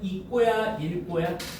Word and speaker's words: 읽고: 곁받침 리을 기억은 음절 끝과 자음 끝에 자음 앞에서 기억으로 발음하는데 다만 밑줄 기억 앞에서는 리을로 발음한대요.